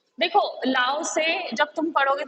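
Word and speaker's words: Lao Tzu: देखो लाओ से जब तुम पढ़ोगे तो तुम बोलोगे कि इसमें टी है, लेकिन यहाँ पे टी साइलेंट है, इसे पढ़ेंगे हम लाओ से, लाओ से।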